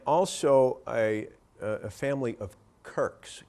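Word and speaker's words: Quirke: y uh and also a a family of kirks k i r k s which apparently is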